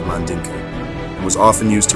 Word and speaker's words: Mandinka: Later on, pages 192, 193, he identified these Jews as the Mandingos, or the Mandinka, tribe in Mali. The term Mandingo is a mispronunciation of Mandinka and was often used